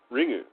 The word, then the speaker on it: Ringu: The U is kind of the U is kind of, it's almost silent, but it doesn't look right when like to hear it pronounced correctly. It should be something more like Ringu or something.